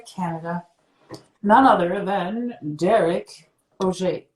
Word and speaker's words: Oger: none other than derek oj we pronounce it the french way right yeah we do